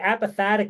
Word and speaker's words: apophatic: So how does the apophatic approach, did I say it right?